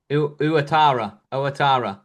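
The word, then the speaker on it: Ouattara: that used to play for Bournemouth, how you pronounce his name? Um, no. Let's have a look. It starts like that. Uatara.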